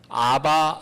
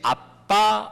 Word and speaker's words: 아빠: 가지고 있던 개역한글 성경에는 아바 아버지 이렇게 번역이 되었었는데 이인제 개역 개정판 을 보면서 이것이 아빠 아버지 이렇게 바뀌었습니다 근데 사실 아빠라는 이 발음이 더 맞는 발음입니다 우리 어린 아이들이 아버지를